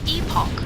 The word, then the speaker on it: Epoch: It's It's- pronounced Epoch, by the way.